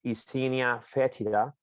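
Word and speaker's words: Eisenia fetida: are the same so it's scientific name it's pronounced issinia fetida um it's the most common or the most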